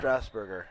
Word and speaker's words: Strasberger: again number seven teimo how did he pronounce it strasberger strasberger okay it's like the uh City Strasburg but just uh with a little burger at the end there Josh 2632 Trey